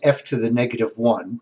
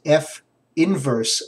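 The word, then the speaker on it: f⁻¹: And then what looks like it's f to the negative 1, but we're not going to say that, of x. And this is going to be pronounced f inverse of x equals x to the negative 3.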